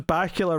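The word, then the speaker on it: Bakula: But yes, can Dracula, all because Bacula rhymes with Dracula.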